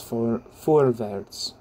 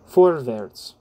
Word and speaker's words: Vorwärts: I think it's Vorwärts. I'm going to say that's how you pronounce that. You know the thing. But I'm trying to master my German pronunciation. Anyway, Vorwärts.